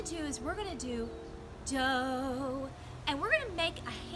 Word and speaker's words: do: is spelled r e dough is D Oh looks like do but we say dough ray is our